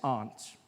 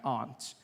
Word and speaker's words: aunt: Opposites of Uncle as Aunt I say my aunt out here you say my aunt which to me is an insect all right which made